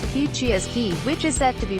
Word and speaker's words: Kihciy Askiy: heated indoor gathering space to make Kihciy Askiy, pronounced Kihciy Askiy, which is set to be built on former location of Fox Farms this fall, usable year-long.